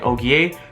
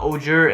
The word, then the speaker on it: Ogier: to pronounce this word it's not ojur it's not ogre it's og um these guys are french so just like how it's oliver um it's olivier and just like ogre it's oh ogier so yeah you got to pronounce that og but yeah and then